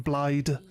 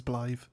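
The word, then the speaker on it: Blaidd: They'll read it as Blythe. But other people, I hear people calling him Blyde.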